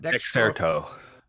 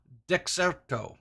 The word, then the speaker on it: Dexerto: How do you say, is it Dirkstro? Dexerto. Dexerto.